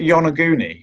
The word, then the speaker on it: Yonaguni: it was made for Giants this isn't it Yonaguni or yeah I was pronouncing it wrong and in the surrounding area